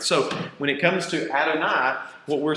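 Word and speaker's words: אֲדֹנָי: So what you really have is three syllables here. You got Adonai. So Adonai.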